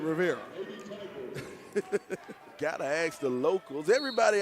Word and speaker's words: Riviera: You know, it's Riviera. It's spelled just like the French, Riviera. Mm-hmm. We call it Riviera.